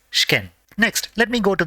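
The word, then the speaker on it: 試験: shken which means exam it is not she ken but has to be pronounced as shken next let me go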